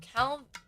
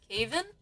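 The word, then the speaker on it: Kavin: That Calvin means beautiful. Oh, is it Kevin? Calvin? Am I mispronouncing it? Caven? Oh, I think that's it. Caven.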